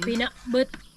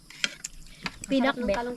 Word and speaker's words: Pinakbet: Pinakbut. Doon talaga ang ang pronounce. Pinakbut. Pinakbot na tarong. Sa Tagalog yan. Pinakbet sa Tagalog.